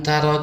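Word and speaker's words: ت: Ini huruf ta Arab, dibaca dengan hamas, dengan hembusan angin. Ta, bukan ta.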